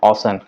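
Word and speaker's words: Ocean: ओशन city, ओशन city, इसे ओशियन नहीं पढ़ते हैं, that correct pronunciation is that ओशन।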